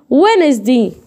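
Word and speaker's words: Wednesday: ولكن خلي بالك لا يلفظ في الكلمات الاتيه. ما بقراوش في ايه بقى؟ اقول هنا ايه؟ وينزدي.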